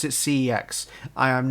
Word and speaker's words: CeX: collection doctor strange cex again and yes i pronounce it cex i am not pronouncing it sex because in people in the uk may not some people may not notice this but the old adverts for cex the guy pronounced it sex and my wife